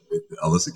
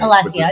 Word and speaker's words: Alessia: Alyssa Caro. I don't know if I'm saying her name right. Alessia, it's all right.